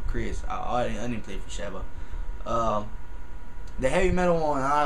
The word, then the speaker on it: Sheva: I'm saying it right, Sheva. Sounds like when I first heard it on the game, I was like, what the hell? You just call it Shovel? But nah, it's Sheva.